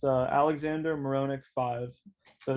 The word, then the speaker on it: Marohnic: my tick tock is um it's uh alexander muronek5 so it's going to be alexander's just spelled normally and then my last name is spelled m-a-r-o-h-n-i-c and just the number five so alexander moronic5 yeah i just started it so i've only